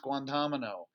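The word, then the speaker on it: Guantánamo: that important take a look at that that's pronounced guantanamo the reason why i want you to know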